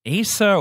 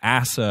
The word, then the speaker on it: Asa: a whole conversation about is it a so or acid I think it's acid Butterfield asa butterfield pronunciation